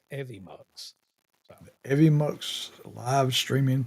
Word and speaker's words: Evmux: some videos earlier, learning about stuff, and it's actually called Evimux. Is how you say it. It's EVMUX. Evimux.